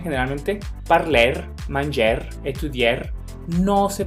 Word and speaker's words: étudier: Siempre que vean una palabra con ER, pronúncienla como E.